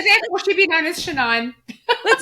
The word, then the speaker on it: Shannyn: her shanine so therefore she'd be known as shanine let's not call me shenan let's not let's that's it like call it